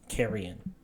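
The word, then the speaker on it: Karion: So the way you would spell it is K A R I O N. Kerrion.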